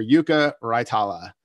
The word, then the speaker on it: Jukka Raitala: to be joined by the newest loon defender yuka raitala did i pronounce that okay couldn't be better that's correct